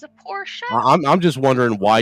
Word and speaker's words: Porsche: he said it right he said it he pronounced it correctly that's how you say it it's not a Porsche it's a Porsche show I'm I'm just wondering why you got this